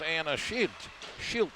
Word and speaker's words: Anna Schilt: Now they get control, and up ice comes Anna Schilt, it's pronounced.